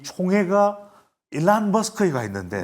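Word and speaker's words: Elon: 또 하나 깜짝 놀랄 일 여러분들 뭐냐면 지금 트럼프 당선인의 이 총회가 일란 머스크가 있는데 네. 일론이라고 발음 안 합니다. 트럼프 당선인 일란이라고 합니다.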